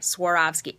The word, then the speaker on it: Swarovski: swarovski crystals swarovski crystals i said it right swarovski everybody pronounces it wrong these sort of famous Austrian